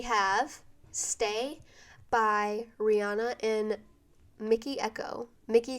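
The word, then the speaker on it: Mikky Ekko: the week we have Stay by Rihanna in Mickey Echo Mickey spelled with 2 K's so it's m i k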